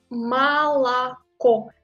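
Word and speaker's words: молоко: Mais il faut dire Malako parce que l'accent tombe sur O final.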